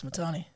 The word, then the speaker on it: Matane: It's Matane.